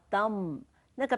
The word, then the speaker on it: dumb: 这些由本地人所经营的礼品店很值得逛逛。再下一个生字叫 dumb。那个 b 不发音，dumb 是一个形容词，愚昧的。